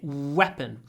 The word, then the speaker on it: weapon: and and your teeth because if your lips are close to your teeth you will say weon it's noton it's weon so like you want to kiss somebody weapon W and the